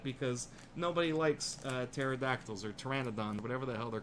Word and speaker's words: pteranodon: nobody likes pterodactyls or pteranodons, whatever the hell they're called. The P is silent, okay?